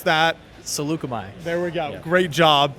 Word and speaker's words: Saleucami: I can't pronounce that. Saleucami.